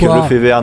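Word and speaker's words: Lefevere: Mais en tout cas, on est en France, donc on dit Patrick Lefévère, nous ici.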